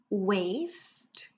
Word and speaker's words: waist: And you can see that the pronunciation of this word, the W-A-I-S-T, waist, it's exactly the same as the word W-A-S-T-E, waste, like waste my time. So different spelling, same pronunciation here.